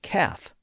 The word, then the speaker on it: calf: And the same thing happened in a lot of words spelled with ALF, like half and calf. Again, we don't say half and calf, even though the spelling of the words suggests that we should. The L in those words also became silent during the early modern period.